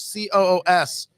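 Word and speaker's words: Coös: And this Rockingham County, Sullivan County, Grafton County, and then up here in, I think it's pronounced Coos, Coos.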